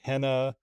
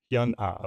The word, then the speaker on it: HyunA: It is Kim Hyun Ah, which I think was probably the majority of what people were telling us in the comments.